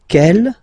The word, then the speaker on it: quelle: And then the feminine form is written like that, Q-U-E-L-L-E, but it's pronounced like the masculine form. Quel at the masculine, quel at the feminine. Okay, so it's basically same pronunciation.